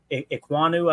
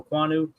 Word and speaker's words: Ekwonu: Thibodeau, Derek Stingley Jr., Trayvon Walker, Kyle Hamilton, Ekwonu, I think is how you say that name, Akeem Ekwonu, offensive tackle, Garrett Wilson at number 8, Evan